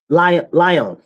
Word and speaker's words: Lyon: And this happened in Lyon.